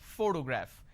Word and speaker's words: photograph: this particular word photograph the correct pronunciation is photograph which means I am stressing on this particular syllable which is the first syllable please give me the